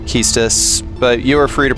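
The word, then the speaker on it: Quistis: No, it's 100% pronounced Keus, but you are free to pronounce it quistus.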